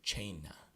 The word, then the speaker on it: cena: When when those letters follow C, it's pronounced like the CH in church. So that word there, we would say cena.